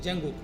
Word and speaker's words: Django: प्रयोग कर सकते हैं जंगो की लाइब्रेरी से अब जंगो इसको हम लोग उच्चारण जो करते हैं प्रोनंसिएशन करते हैं वो जैंगो करते हैं इसमें डी साइलेंट रहता है और हाई लेवल पाइथन